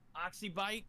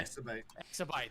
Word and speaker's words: Axibite: And it looks like the top 3 for, how do you pronounce their name again? Mom? Oxybite? Or, Axibite, yeah. Axibite, there we go, Axibite.